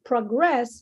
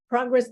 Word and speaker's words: progress: so Rob rest Prague so the accent would be in the first syllable that's the noun okay so I want to monitor your progress so progress there is a noun but when you say you should progress so that's a verb so progress so the the accent would be in the second syllable progress it's like contract